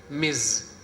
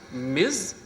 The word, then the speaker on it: Ms: no it is pronounced Miz Miz z sound must come it is pronounced Miz and it is used